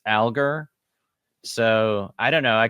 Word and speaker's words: Alger: um, where should we begin talking about Fanny Alger? Well, I think we have to begin with pronunciation because all of my Mormon history career, I've been uncertain as to whether it's alger or algar.